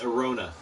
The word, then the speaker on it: Arona: It's Arona, like Corona. The beer, not the virus.